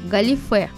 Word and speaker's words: галифе: немного про само слово ударение в нем падает на последний слог галифе на конце как видите